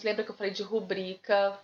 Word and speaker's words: rubrica: Lembra que eu falei de rubrica? Repetir esses nomes. Rubrica, viu, gente? As pessoas ficam em dúvida em relação à pronúncia.